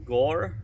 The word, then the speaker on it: gor: But so far I've got Gore, which is hammer, spelled G-O-R, pronounced G-O-H-R.